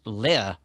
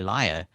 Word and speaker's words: Lire: he was telling me it's actually pronounced Lear because it's a French word. So and sometimes your text to speech engine will say liar, which sort of makes it sound like a politician.